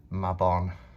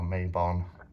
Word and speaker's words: Mabon: ostara baltain litha lunasar mabon or maybon depends how you say it and uh sarwin